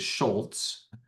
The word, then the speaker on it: Schulz: So, like my, you know, my last name is is Schultz, pronounced with a T, but not spelled with a T.